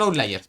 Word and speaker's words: outliers: Claro, esos serían los que estarían acá, son outliers. Pero como el máximo y el mínimo están acá, no tenemos outliers. ¿Cómo se escribe? Perdón la ignorancia. Se dice out, como fuera en inglés, ¿Ahora? ¿Ah? liars.